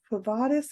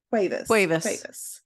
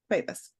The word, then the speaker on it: Cuevas: Quavatis. Is that how you say her name? Cuevas. Cuevas. I always want to say Quavatis.